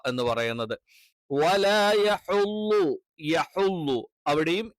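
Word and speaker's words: يَحُضُّ: വാ എന്ന് പറയുന്നത് വലാ യഹ്ളു യഹ്ളു അവിടെയും യ കറക്റ്റ് ആയിട്ട് ഉച്ചരിക്കണം യഹ്ളു ആയി പോകരുത് യെ എന്നുള്ള ഉച്ചാരണം തെറ്റാണ് വലാ യഹ്ഹുളു ള ളാദിന്റെ ളാദ് പലപ്പോഴും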